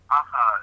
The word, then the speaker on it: Akha: So the word, the original word in the Indo-Germanic was Akha. Akha is the best way to pronounce it.